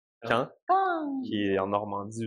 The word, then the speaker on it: Caen: à un jeune au gym, c'est quoi la vraie prononciation de la Ouais, c'est ville? Caen. C'est Caen.